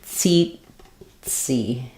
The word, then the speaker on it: tsetse: First syllable stress. So tsetse. This one is shorter. Tsetse. Tsetse fly. So both E's say the E sound.